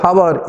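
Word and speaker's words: hour: consonant what happens is when you pronounce this word how our h becomes silent so which is the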